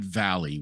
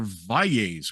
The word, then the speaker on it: Valles: years or so, because for the longest time my family was Valley. We would pronounce it Valley. We were anglicized Valley. And then it's like, no, we are Valles.